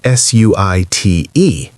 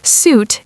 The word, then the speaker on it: suit: Suit is pronounced like the word suit, but with a Y sound, suit. Or in American English, more like suit, suit.